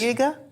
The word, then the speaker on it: Uyghur: Uyghur? Well, we checked on the Google pronunciation, and it's Uyghur.